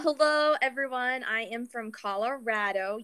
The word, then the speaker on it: Colorado: I am from Colorado. Yes, I said Colorado. Many of you may not know it as Colorado, but that is how it's said.